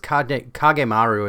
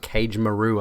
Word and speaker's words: Kagemaru: as well also dude mispronounce it kagemaru it's not cage maru i don't think you